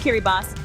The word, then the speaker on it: Kiribati: Kiribati, pronounced Kiribati, is remote, resilient, and deeply connected to the ocean.